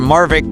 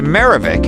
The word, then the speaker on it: Marvic: Gadon is open about his personal grudge against the magistrate, vexing him by mispronouncing his first name from Marvick to Marivic, and would sometimes label